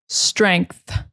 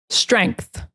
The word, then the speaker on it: strength: In North American English, we pronounce that TH very strongly. We say strength, strength, strength. Look at my mouth. If you can see it, the tongue between the teeth.